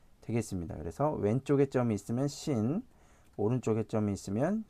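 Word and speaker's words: שׂין: 그래서 얘는 이제 쌍시옷에 발음이 나고 얘는 이제 SH 발음 있죠.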